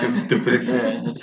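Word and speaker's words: Dricus Du Plessis: Dracus Duplessis.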